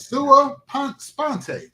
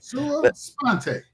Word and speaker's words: sua sponte: How do you pronounce the word? I want to know how to su sponte. Oh, sua pante. Okay. Sua sponte.